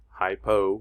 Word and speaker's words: hypo: activity hyper means high hypo rhymes with low means low hypoperfusion if we know